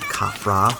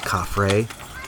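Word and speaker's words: Khafre: if you are wondering why I am saying kafra instead of cafre let me explain his name and the names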